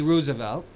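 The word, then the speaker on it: Roosevelt: A a Pulitzer priz winning biography about Teddy Rosevelt which is the proper pronunciation as FDR they're fourth cousins two different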